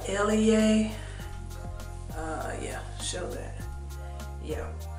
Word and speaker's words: Eleyae: line cap by grace i guess it's pronounced uh elie uh yeah show that